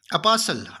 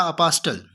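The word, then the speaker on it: apostle: उसके बाद अपास्टल, अपासल, अपासल, नाटा अपास्टल, अपोसल।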